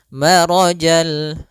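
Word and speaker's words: مرج: atau di antara keduanya maka Rya tebal Mar bukan Mara tapi dia ro sempurnakan lafal rnya marjal kemudian lafal albahrain ada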